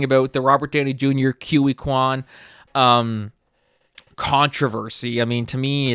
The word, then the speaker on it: Ke Huy Quan: But so it was presented by Ke Huy Quan.